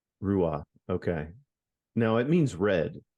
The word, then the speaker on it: Ruadh: Just don't pronounce the D and you'll be fine, mate.